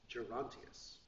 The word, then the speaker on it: Gerontius: dream of gerontius the dream of Janus gerontius is spelled GE r o m t i u s gerontius uh he's an English composer but it's really